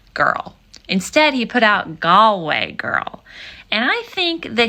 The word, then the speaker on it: Galway: instead he put out gallway girl and I think that he could have used this opportunity to educate the masses because gway it's pretty easy you pronounce it the way that it's spelled but dunal much harder